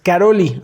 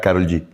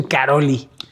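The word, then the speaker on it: Károlyi: Se escribe Karol G con Y al final, pero es Karolyi, así lo pronuncian. Yo en mi mente todo este tiempo pensé que era Karol G.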